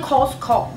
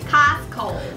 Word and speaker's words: Costco: 爸爸念都是念 Costco，好事多。对，好事多。那他到底怎么念？他不是念 Costco，应该是念 Costco。 Costco。